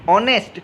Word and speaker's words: honest: इसी प्रकार से HONEST हॉनेस्ट नहीं होता है, बल्कि इसको सही प्रोनाउंसिएशन होता है ऑनेस्ट, क्योंकि इसमें भी क्या है, एच साइलेंट है।